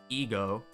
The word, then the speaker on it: Egho: tips for you the region of heo pronounced ego I've been saying it wrong is small but dense